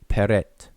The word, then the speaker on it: peret: And we pronounce this word, or these three glyphs, we will pronounce them today conventionally as peret.